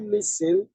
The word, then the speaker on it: listen: Can you listen?